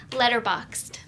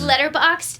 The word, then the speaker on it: Letterboxd: Letterboxd is a way for you to keep track of all the movies you're watching. Oh my okay. So god. it's Oh. spelled like letter box, like BOXD, all together.